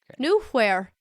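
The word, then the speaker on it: Knuehyre: in new air hang on a second here new where it's gnomish it's pronounced new here new where new where shall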